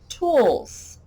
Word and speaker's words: tools: sound would be like tools my dad has some tools and even though it's spelled with an s it makes a z sound that s makes the z sound or maybe braids braids